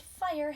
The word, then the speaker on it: fire: not know this but fire has a silent e at the end end of the sentence